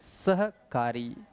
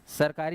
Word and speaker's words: सहकारी: याद रखेंगे भोरम देव सहकारी हिसाब से बोलना है सहकारी सरकारी नहीं बोलना है सहकारी सरकारी बोल गलत हो जाएगा सहकारी ऑनलाइन वाले बोलेंगे